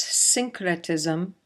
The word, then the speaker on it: syncretism: This is pronounced syncretism, and it basically means the merging of various characteristics.